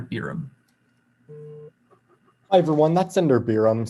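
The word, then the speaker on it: Beeram: Between Senators Biram, Dilip Kumar, and Nuttall, that's going to go to Senator Biram. Hi everyone, that's Senator Biram, spelled B-E-E-R-A-M.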